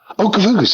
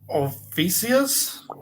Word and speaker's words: Ophiuchus: Okafukus, there it is. How do you say that? How do you say that? Can you pronounce that, Stefan? Ophiuchus?